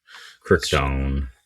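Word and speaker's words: Crichton: I just remember with Kiteon is it I don't know how you actually pronounce I want to say it's Michael Kiteon but Kryton Kryton okay I'm just around.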